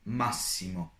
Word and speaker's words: massimo: But if you have a double S or doppia S in a sentence, you read it as S, S, like in massimo, massimo, which means maximum.